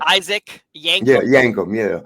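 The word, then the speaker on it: Yankem: how you say it you say Isaac yank yankum yeah d a dentist with yellow teeth yeah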